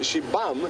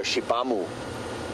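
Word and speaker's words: Xibamu: is pronounced she so she bum is about x-i-b-a-m-u kind of don't really pronounce the U at the end well at least you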